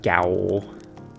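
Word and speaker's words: gaol: even pronounced the word gowl like it's a word for jail but it's like it's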